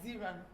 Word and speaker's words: Xinran: The Good Women of China by Ziran. Ziran is X, so I don't know if that's how they mention it. Because of the, I know people who pronounce X as I, so you don't.